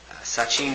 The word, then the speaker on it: Sachin: Sachin.